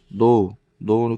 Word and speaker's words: know: focus 쉬운 거고 know K는 묵음입니다. 묵음이고 know I know 그러면 알아.